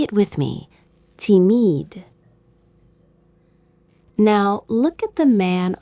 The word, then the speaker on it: timide: It sounds like the English word timid. Say it with me. Timide.